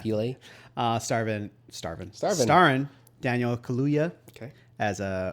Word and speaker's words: Peele: You have to pronounce that last The E, yeah. Peele.